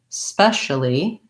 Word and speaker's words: especially: as the first sound i don't want any vowel sound before it especially long on special on the spec and short on the uh especially and then especially especially still has the same syllable stress especially but i have the e vowel first and so i want to make sure i have the s especially especially actually it's